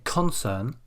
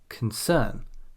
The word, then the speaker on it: concern: And we don't say concern, we say concern, concern.